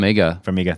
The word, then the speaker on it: Farmiga: Farmiga.